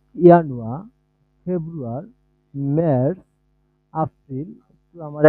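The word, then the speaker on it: Januar: এই, এটার হচ্ছে ডয়েশ উচ্চারণ হবে ইয়ানুয়া, ফেব্রুয়ার, মার্চ, এপ্রিল।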